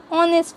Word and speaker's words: honest: In the following words, H is a consonant but H is silent. So pronunciation start from vowel sound. स्वराने उच्चार होतो. For example, an hour, an honest man.